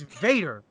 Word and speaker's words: Vader: It's Vader. Fucking pronounce it right. It is the German pronunciation of it, actually.